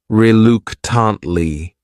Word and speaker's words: reluctantly: This word has four syllables and the stress is on that second syllable. That third syllable also has that schwah reluctantly reluctantly.